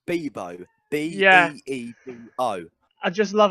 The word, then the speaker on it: Beebo: Oh, that thing, Baboos or whatever.